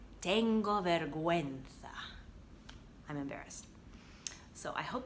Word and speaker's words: vergüenza: So, or embarrassed, it would be tengo vergüenza. So V-E-R-G-U, and those two little dots mean you're going to pronounce it gue, vergüenza.